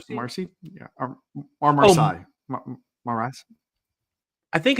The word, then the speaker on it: Marasi: Maras. I think it's Yeah, I think they pronounce it differently in the book. I don't know. It's M A R A SI. Marasi. Marasi.